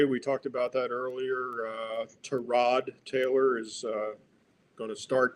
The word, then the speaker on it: Tyrod: It's correctly pronounced Tyrod, but he doesn't correct people.